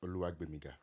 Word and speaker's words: Gbenga: My first name is Gbenga. Correct. You see? Growing up, I was called Gbenga. Now, that GB sound, only 2 cultures can pronounce it well. Yoruba and Ivorians.